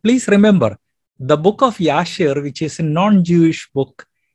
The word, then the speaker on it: Jashar: The correct pronunciation will be Yashir. King James Bible often uses the word J for year. The correct name of Joshua would be Joshua, and Jashir would be Yashir.